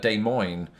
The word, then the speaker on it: Des Moines: it's Boise you know Des Moines was another one in two instances is day and in Moines and you know I have been very diligent about not not pronouncing it that way I have heard people